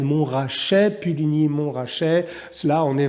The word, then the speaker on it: Montrachet: morceau du chassagne montrachet alors je sais qu'une fois dans une émission que j'ai dit mon trajet je me suis fait reprendre par de nombreux commentaires donc j'en profite pour corriger ma prononciation morceau chassagne montrachet puligny montrachet cela on